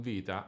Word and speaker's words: Vita: the first anchor point The stressed vowel in "Vita" is the I which will be the second anchor point The word "Maledetta"